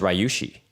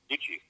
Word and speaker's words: Ryuichi: I thought it was Ryushi. Ryuichi. Is it Ryushi? Ryuchi. Oh, well, then I guess I was pronouncing it wrong before.